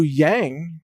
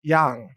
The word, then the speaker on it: Yang: in Chinese it's actually young or young but anyway in English we pronounce it yang like yin yang even though in Chinese that's actually pronounced young but in any case